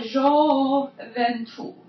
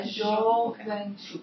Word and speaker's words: gioventù: brillar la gioventù. That's the soft G. Yeah, gioventù. Yeah, it's very soft.